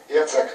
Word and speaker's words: Jacek: Alors vous êtes Jacek, je prononce bien? Jacek.